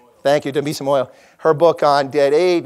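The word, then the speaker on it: Dambisa Moyo: Demia Moiso's, excuse me, I always get her name wrong. Thank you, Demisa Moyo.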